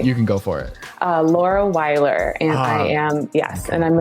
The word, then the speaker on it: Laura Weiler: Laura Weiler, and I am, and I'm an artist currently working in analog collage, living just outside of Portland, Oregon.